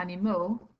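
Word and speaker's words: animaux: add an X again you don't pronounce that X but change it so like animale changes to any mole in the plural as well so there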